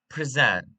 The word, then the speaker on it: present: The word present, for example, is a two-syllable word. If we stress the first syllable, it is a noun, which is gift, or an adjective, opposite of absent. But if we stress the second syllable, it becomes a verb to offer, to show.